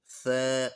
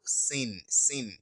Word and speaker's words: ث: Do not say alamuk sin. Do not pronounce S. No. Make sure you bring out your tongue in between your teeth, like I said earlier. Ala muk thin thin.